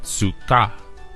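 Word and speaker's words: סוכה: be written out as sua and is phonetically pronounced as Suka this Hebrew term translates into English as Thicket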